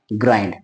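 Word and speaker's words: grind: इसको ई पढ़ते हैं लेकिन एनडी आए आई पढ़ते हैं तो बन गया ग्राईफन सोनेंट आते हैं तो यह हमारे सामने शब्द बना है ग्राइंड यानी हमने जाना कि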